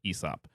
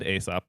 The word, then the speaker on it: Aesop: and a lot of people wait is it asop or ESOP I recently learned that is pronounced ESOP but I always said asop because it starts with an A that's what